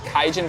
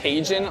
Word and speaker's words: Kaijin: This is Kaijan Buffet in Co-op City in the Bronx. It's not pronounced Cajun like the cuisine.